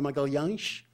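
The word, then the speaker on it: Magalhães: next Fernando de magal Fernando magalang as the Portuguese pronounce his name mellan survived by his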